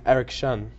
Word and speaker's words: Eric Shun: lot of nice girls you mispronounced my name though it's actually Eric shun erection got it let's let's